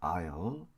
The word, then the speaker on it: aisle: 7번 통로에 있다면 7번 통로라고 할 때는 통로를 먼저 쓰고 AISLE라고 쓰고 읽을 때는 I'이라고 읽습니다. I'll.